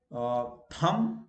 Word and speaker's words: thumb: Thumb, like you say thumbs up. So you don't pronounce B. Thumbs up, thumb.